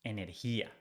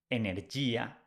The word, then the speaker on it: energía: So you change Y for IA, energy becomes energía. Remember the rule with the G? With the G is followed by I or E. G sounds like H in English. So you don't pronounce energía, you pronounce energía, energía.